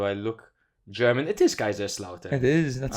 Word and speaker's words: Kaiserslautern: It is Kaiserslautern.